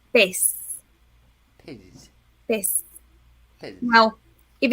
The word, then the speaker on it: pez: And this is for the word fish in Spanish, you say pez.